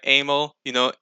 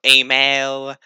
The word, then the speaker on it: Aimel: So when you combine both letters together, it sounds like Amel. M L Amel. Also, I don't mind how people pronounce it. That's how I pronounce Amel or Amail because I'm Canadian, French, but yeah, the pronunciation, I don't mind.